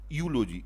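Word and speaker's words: eulogy: यूलोजी, ई यू एल ओ जी वाई, इसमें यू की य की ध्वनि दे रहा है इसलिए इसका इसके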